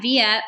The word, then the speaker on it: Vija: So yeah, my name's Via. And for uh those of you who see me on Facebook and whatnot, it is pronounced via like via satellite.